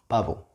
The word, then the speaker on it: pavo: B and V sound the same in Spanish. It's not like in English. It's B, V. No, it's just B, the same. We do not distinguish one sound with the other. So, pavo, pavo, easy, piece of cake.